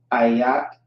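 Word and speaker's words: אֵיךְ: Ayak is how you pronounce that.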